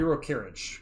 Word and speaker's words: Rokiric: It would be Rokirich, because this is definitely, like, Slavic pronunciation.